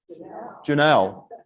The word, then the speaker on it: Junell: Janelle. Now, have a look on a piece of paper and spell it out. Junell. Looks like June 11, doesn't it?